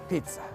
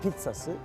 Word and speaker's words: Pizza: Ve tabii ki pizzası Pizza buranın pizzası dikkat edin Pizza demiyorum Pizza diyorum İtalyanca ik tane Z bir tanesi T olur Pizza yazılır ama Pizza okunur aynı şey geçerli Mozzarella